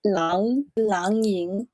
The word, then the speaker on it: Lang Ying: In Chinese, the A sound for A-N-G is ang. So it's Lang Ying.